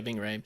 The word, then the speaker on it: Ving Rhames: Is that how you pronounce his name? Yeah, Ving Rhames.